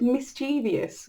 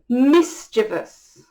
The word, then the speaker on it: mischievous: This is a word I said a lot wrong as a child, and actually as a young adult I said mischievous, which is incorrect. It's mischievous.